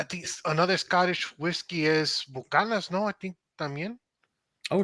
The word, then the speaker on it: Buchanan's: Yeah, because there's another N that we just never pronounce. It's Scottish, yeah.